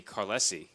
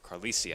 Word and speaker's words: Carlisi: It's Vinny Carlesi. Or Carlisi, I should say, as I refer to our pronunciation guide, which is uselessly positioned underneath my iPad.